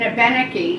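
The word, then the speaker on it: Abenaki: knew from the governor's Institute but she's an ebenecke she taught me to pronounce it that way uh ethnobotanist artisan and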